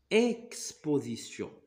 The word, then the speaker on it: exposition: Lorsque E, alors E est suivi de la lettre X, il se prononce comme A.